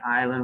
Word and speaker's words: island: english there's so many things like island where the s is silent as many many it's